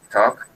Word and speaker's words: talk: Aquí, en la pronunciación de este verbo talk, como pueden notar, talk, la A parece una O, y la L aquí también es muda, como en party.